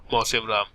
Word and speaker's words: Mawsynram: रहा हूं यहाँ पे, जगह का नाम है मौसिनराम। इसकी स्पेलिंग बड़ी इंटरेस्टिंग है, तो इसीलिए इसको लिख लीजिएगा आप, MAWSYNRAM, मौसिनराम। क्या बोलते हैं इसको, मौसिनराम।